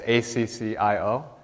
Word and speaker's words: Accio: of the akio spell i'm not sure as it's pronounced that in the movies but but it's accio it means to summon